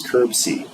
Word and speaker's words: CR-BSI: So catheter-related bloodstream infection, you can think of that as CURB-C, which is how you say it.